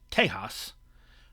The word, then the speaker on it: Tejas: Now, Texas, by the way, called by the Spanish Tejas, which was the Spanish pronunciation of the Caddo word Tesha, which means friend or ally.